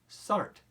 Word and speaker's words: Sartre: Now, first, we are going to pronounce his name as simply Sartre.